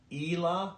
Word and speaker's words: Ila: And the name, I'll spell it out for you, is I'll pronounce it Ila, but it's kind of written like I-L-A.